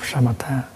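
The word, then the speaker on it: शमथ: And the Buddhist term for stopping is shamatha. In Pali, samatha. With this, you pronounce like shamatha.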